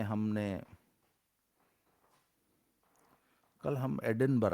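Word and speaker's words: Edinburgh: ऐसा नहीं है भैया लिखते हैं एडिनबर्ग बोलते हैं एडिनबरा वही वाली पहली बात है बचपन में हम लोग बीओटी बट हो जाता है।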